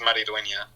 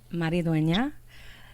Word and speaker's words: Mariduena: you say it uh it's pronounced mariduena maridonia so there we go